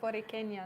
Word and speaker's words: Borinqueña: June, and I was actually hoping you could pronounce it. It's maybe? Casa Borinqueña, no? There we go. Yes. So you could pronounce it much better than I can. So Casa Borinqueña, no? Or Borinqueña, I think.